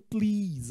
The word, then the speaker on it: please: se você lembra bem, ele é utilizado com a letra S, gente, ó. Please. Mas, se você lembra bem, a pronúncia dele é com som de Z.